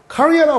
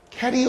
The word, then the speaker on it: career: career라고 발음해야 된다, 얘들아. 캐리어 우먼이야. 막 이렇게 많이 하는데, 캐리어 우먼 하면은 이제 배달 아줌마가 되는 거야. 그래서 career, 이렇게 career 우먼이라고 해야 돼요.